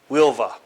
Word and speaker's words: Huelva: Tinto, which is about 70 kilometers inland from Huelva. It's spelled Huelva, but it's pronounced Huelva, which produced gold, silver, lead, copper, zinc, and